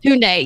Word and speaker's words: Tunde: I don't know how you pronounce the name. Tunde. Yeah. Tunde, yes, she was my favorite.